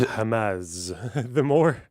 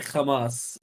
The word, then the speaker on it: Hamas: Yeah, Yeah, Israelis say Hamas because yeah, they don't pronounce a hate. They pronounce their hate is pronounced kha. yeah, It's hate, the letter. But for Arabs, we say Hamas because we yeah, can pronounce the hate.